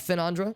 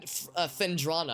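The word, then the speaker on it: Phendrana: the frigid climb of finandra almost said the frigid crime oh it's finn fendrana i've been saying it wrong this whole time i don't know bridgette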